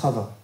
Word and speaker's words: Hava: femme Adam et Hava en hébreu c'est Hava donc ne soyez pas étonnés si je prononce comme ça Adam et Hava incarne